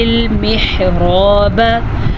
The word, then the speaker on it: المحراب: یا لی، فی المحراب، ہا کے تلفظ کا دھیان رکھنا ہے، را کو پر پڑھنا ہے اور الف مدہ کے ساتھ پڑھنا ہے، اور فی المحراب، ان